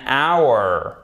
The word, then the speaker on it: hour: Donc, on ne prononce pas le H pour ces deux mots. An honor, an hour.